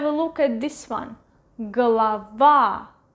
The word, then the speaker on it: голова: Голова, голова, голова. stress is over here. This O is right next to the stressed vowel, so it is pronounced as A, голова, while this one is more than one syllable ahead.